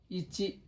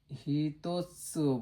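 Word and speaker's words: 一: ইচি একটা দাগ, stock সংখ্যা এখানে লিখে দেব। এটা হলো স্টক সংখ্যা, কিভাবে লিখতেছি সেটা। ইচি ইচি এটা হলো আমরা হিতোৎসু বলতে পারি।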